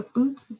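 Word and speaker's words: Bute: she finds the patron the marquee of a boot that's how you pronounce that um and so she yeah she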